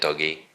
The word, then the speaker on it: Doge: this is we put Doge in the game or how we say it doggy we we have aru arguments on how to actually pronounce that we wanted to put